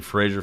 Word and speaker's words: Fraser: Fraser, like razor. That's how he pronounces his name.